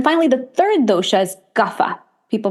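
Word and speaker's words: Kapha: body and then finally the third DOA is gaffa people pronounce it kafa but gaffa is Earth Energy earth and water so very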